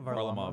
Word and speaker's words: Varlamov: Varlamov. Varlamov.